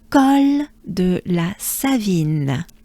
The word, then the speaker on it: Col de la Savine: So lots of vowels with no R's. What a blessing. Col de la Savine. Col, col, col, col, col de, de, la, right? La, Savine. So there's two A's. La Savine, Savine, vine, I. There's the banana smile. I, vine, vine. Savine, la Savine.